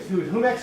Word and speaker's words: Jumex: We went to Jumex, and I was saying, Jumex or Jumex? Jumex. So I was saying it right.